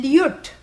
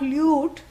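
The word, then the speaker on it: ल्युट्: Lyut. You. Yeah, L-Y-U-T. Lyut. Yeah, not lute, that is what you play. Yeah, lyut. Yeah, short O. Lyut.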